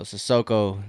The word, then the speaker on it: Sissoko: So Sissoko, that's how you pronounce his name.